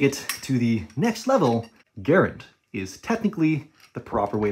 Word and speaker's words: Garand: to the next level garend is technically the proper way to pronounce the name garend rhymes with aaron and the reason for